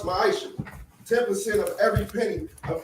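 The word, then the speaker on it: מעשר: It means 10th in Hebrew, and it's pronounced ma'isha.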